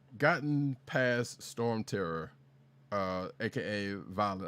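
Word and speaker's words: Dvalin: I have gotten past Storm Terror, aka Valen. I hate with them pronouncing the D on Valen.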